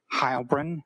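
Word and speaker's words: Heilbrun: My name is Hybrin. That's spelled and then H E I L B R U N.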